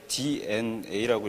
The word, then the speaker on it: DeNA: 처음에 말씀드린 DNA인데 저희 우리 회사 이름을 대나라고 읽는 분이 많으세요. DNA라고 읽고요. 그 D 우리 DNA에 이커머스가 심어져 있다 해가지고 스펠링을 저렇게 씁니다. 그래서 DNA로 꼭 읽어주십시오.